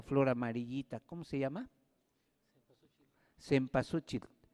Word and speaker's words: cempasúchil: tiempo se pasó chico se pronuncia de varias maneras se olviden se pasó che depende de la región donde se hable pero es flor 20